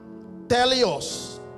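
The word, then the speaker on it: teleios: Teleos. Am I pronouncing T-E-L-E-I-O-S? T-E-L-E-I-O-S. Teleos. iOS, like iPhone ஓட update மாதிரி இருக்கு iOS.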